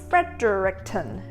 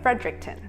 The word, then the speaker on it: Fredericton: New Brunswick The capital city of New Brunswick is Fredericton It is not pronounced "Fred-der-ric-ton" The correct pronunciation is Fredericton I'm really interested in knowing more about the